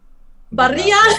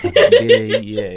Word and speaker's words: birria: I can't pronounce it properly. My R is Barilla. birria.